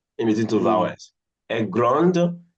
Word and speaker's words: grande: Grande, the D has been pronounced.